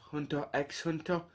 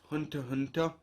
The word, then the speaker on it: Hunter x Hunter: at the series has hunter x hunter which x is just a silent letter you do not say it it's just hunter hunter and um i will